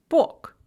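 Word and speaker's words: бог: written is pronounced napissaf bug god is pronounced book ploshadz a city square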